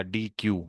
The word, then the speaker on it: deque: तो अगर मैं इसको यूं कर दूं ना, डी, ये बन जाएगा डी क्यू, क्योंकि क्यू के पूरे स्पेलिंग ये होते हैं, लेकिन अभी ये डी क्यू नहीं है, अभी ये डेक है, ठीक है।